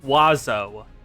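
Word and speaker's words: oiseau: Alas, these provisions did not prevent Delhua bird in French. Wazo and it's spelled so differently.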